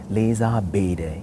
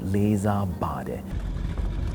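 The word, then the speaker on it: လေးစားပါတယ်: For example, when he's saying, I do respect you, to appeal to the pirate leader, he said, Leza Bede. He should have been saying, Leza Bade.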